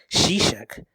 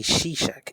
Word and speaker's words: Shishak: year of king rehoboam shishak king of egypt came up against jerusalem because they had transgressed against the lord this bible verse does not actually say shishak it says shisha if we look at